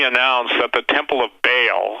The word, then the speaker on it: Baal: that the temple of baal or ball like like pronounced at baal b-a-a-l was coming united states